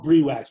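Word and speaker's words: Briwax: It's called Brie Wax, but it's spelled Bri Wax, B-R-I Wax.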